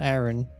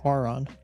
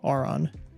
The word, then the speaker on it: Aron: watching the Pokemon anime is I've been mispronouncing Aaron my whole life. It's not Aaron, it's Auron. That's how they say it in the show. Auron, not Aaron.